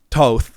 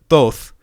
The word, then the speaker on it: Thoth: the todd temple and because of the way that i was pronouncing it toth instead of thoth we ended up going